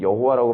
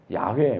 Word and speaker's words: 야훼: 근데 이 I am who I am, 요트의 바브에, 이걸 우리 흔히 여호와라고 발음을 하는데, 야훼, 뭐 요즘 이렇게 발음하는 게 옳대요.